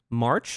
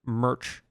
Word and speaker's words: MRCH: Next up, we're going to be checking out, I've been told March is how I could pronounce it. I was going to pronounce it Merch, but March, I suppose, who is a solo artist.